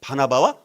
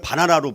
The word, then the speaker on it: 바나바: 바나바와 바울이 있었기 때문에 가능했다는 거예요. 그래서 하나님은 친히이 바나바 잘못하면 바나나로 발음을 하게 되어지더라고요. 바나바를 바나라고 하지 말고 우리 바나바 자 바나바와이